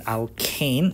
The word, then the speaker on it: alkane: It should have been alkane, not alkenes.